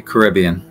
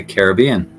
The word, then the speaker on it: Caribbean: one b in general I'll probably say Caribbean some people would say Caribbean and they would not be incorrect Caribbean Caribbean Caribbean I